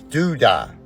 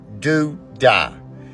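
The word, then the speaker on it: דודאים: The Hebrew word for mandre is dudai. That's how you say it. Do die.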